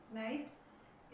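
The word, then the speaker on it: knight: इसका मतलब ये हुआ कि ठीक एन से पहले अगर के आ जाए तो के उस वर्ड में साइलेंट रहेगा। अगर एन से पहले के आ जाए तो के हमेशा साइलेंट रहेगा।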